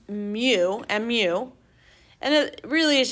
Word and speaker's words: mu: we use something the greek letter m it's pronounced mu mu and it really is just a curly